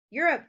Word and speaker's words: Europe: Europe doesn't have a long O sound. Even though it has an O and a silent E, it does not have the long O sound.